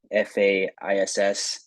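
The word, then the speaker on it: FAISS: themselves to meta's uh feice as AI pronounced it to me fais Vector index the Facebook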